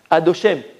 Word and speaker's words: Adoshem: Yud Ke Vav Ke, mais comment on le prononce nous? Comment on le prononce? Adoshem. On ne dit pas comme il est écrit.